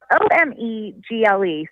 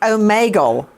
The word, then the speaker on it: Omegle: So the website, it's spelled O-M-E-G-L-E.